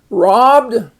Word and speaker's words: robbed: to keep that short robbed so again to keep it short if you took that b out you would have robed next uh the bottom